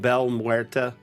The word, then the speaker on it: Belle Muerte: uh Fantasy Grounds CM Belle Muerta. I learned how to pronounce her name correctly today. It's not Bella, which my Italian heritage has a hard time not seeing something spelled like that pronounced Bella.